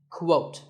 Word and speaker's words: quote: the same as coot the correct way to say it is with a qu sound at the beginning quote similarly we have quotation